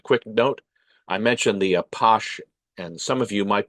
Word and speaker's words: Apache: These range from clean, respectable neighborhood gathering places to dark, dangerous lairs of the Apache, the French pronunciation of Apache, who were the pimps and gangsters of Paris.